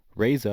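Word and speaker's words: RZA: Reza, I believe it's pronounced, is considered the pioneer of such style, and it was later carried by Just Blazed and Ye.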